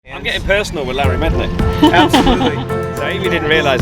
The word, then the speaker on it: Mednick: That's how you pronounce his surname, is it? Larry Mednick. Larry Yes, Mednick.